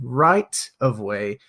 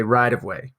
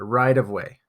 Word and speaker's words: right of way: an American English pronunciation instead of saying right of way we actually change the T pronunciation to a d so we'll say rideway it's kind of a